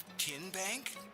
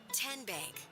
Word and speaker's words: TN Bank: How do you say the name TN Bank? Nope. Tin Bank. Uh-uh. So, what is it? Tenbank. 10 as in Tennessee.